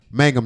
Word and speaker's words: Mangum: accused three duke Lac Mangum y'all not Magnum I told y'all D lexic what you want I'm sorry okay Mangum Mangum why would they spell it so close to all right in an